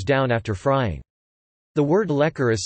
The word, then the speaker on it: lekor: Lekor, Malay pronunciation, lekor, keropok lekor, Malay pronunciation, kropo lekor,